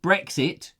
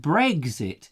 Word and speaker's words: Brexit: the politics but there's some people who pronounce it correctly brexit because it's British Britain's exit and there's others who call it Briggs it if you notice I got eggs in there Briggs it what are they